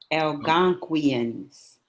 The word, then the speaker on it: Algonquians: Algonquians. That's it. That's it. I can never pronounce that.